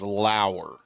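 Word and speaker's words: Justin Lower: I believe Justin pronounces prefers the proper pronunciation of his name as Lauer. Justin Lauer. Closer to Shane Lowry, but it's Justin Lauer.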